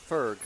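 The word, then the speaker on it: Förg: Forg is pronounced like birth. Ferg. No. And is that There's no O in birth. No. Is that Anastasia? Anastasia. So Ferg. Ferg. Well, it's an O umlaut, but I guess I don't know.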